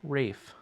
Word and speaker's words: Ralph: emotions but I also learned how to correctly pronounce Ralph feines who was Voldemort into Rafe even though it's art I don't want to